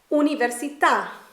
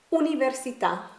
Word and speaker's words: università: bull Paul full oh so how do we pronounce the Italian word for university università università università now let's talk about diphthongs in tell you